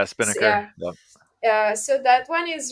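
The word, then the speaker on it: Spinnaker: this tool by Netflix I hope I pronounce it correctly it's called spin sper yeah Spiner yeah so that one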